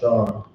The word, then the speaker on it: Lashawan: So it's pronounced Lashawan.